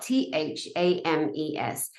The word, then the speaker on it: Thames: expect it to be spelled Thames t-e-m-s no it's spelled t-h-a-m-e-s fames he would pronounce it Thames so it's